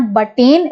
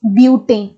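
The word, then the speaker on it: butane: ब्यूटेन आपको pronounce करना है नाम, इट इज नॉट बटेन, इट इज ब्यूटेन।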